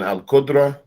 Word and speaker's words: al-Qudra: You said al-Qudra?